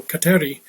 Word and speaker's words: Kateri: And it was at this time then that she accepted the name Catherine, or as she pronounced it in her Mohawk tongue, Kateri.